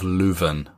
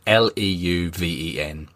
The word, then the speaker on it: Leuven: However, that has now been changed to a ground called the Den Dref, in the nearby town of Leuven. I think that's how you pronounce it, Leuven.